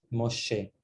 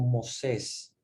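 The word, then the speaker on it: Moshe: h por lo tanto la pronunciación estándar de los de los hebreos es mucho más en la que si queríamos la comuna de sh dulce suave moche sin embargo el latín se traduce como moses y de ahí donde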